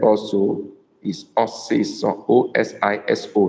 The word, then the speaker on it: osiso: Osiso is spelled O-S-I-S-O.